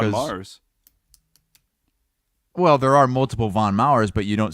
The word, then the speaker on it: Von Maur: watch they say warch okay so you have Von Mars is that not how it's pronounced because I've always said let's go to Von Mars but it's not Von maurer's it's not plural it's Von Maurer I've always